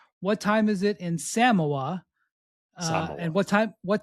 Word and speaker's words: Samoa: They pronounce it Samoa. Samoa more of like an emphasis on the first syllable.